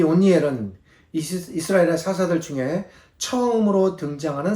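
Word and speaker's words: 옷니엘: 정확한 발음이 온니엘인데 원고에 제가 운니엘이라고 잘못 기재하였습니다.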